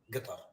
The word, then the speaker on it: Qatar: Arab would say so the proper proper way of pronouncing it is the colloquial pronouncing it is guitar I mean that's that's